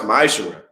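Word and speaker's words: ma'aser: Means 10th in the Hebrew, and is pronounced ma'ashera.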